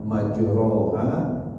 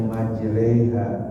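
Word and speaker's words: مجريها: e ya kepada jadi bunyinya itu biasanya misalnya majroha tapi dibacanya majreha majreha nah ini majre itu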